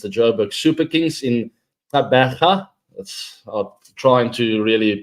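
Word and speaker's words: Gqeberha: But in South Africa, with that, the G and the Q together, it's normally a sound. Good luck trying that. So it's not easy. Tabaga.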